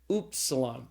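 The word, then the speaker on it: upsilon: After the towel comes oopsilon. And you got to I don't remember my German teacher saying this in German class. You got to kind of stick your lips out to say this properly because the oopsilon is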